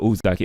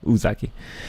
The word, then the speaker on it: Uzaki: The U is pronounced like ooh, like you without the U. Oh, so Uzaki. Okay, Uzaki.